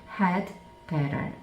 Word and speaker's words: had better: 그런데 모음하고 모음 사이에 t가 붙어 있으면 디귿처럼 디귿 발음이 난다. 근데 들리기에는 리을 소리로 들린다. 그래서 had better 이렇게 되겠습니다.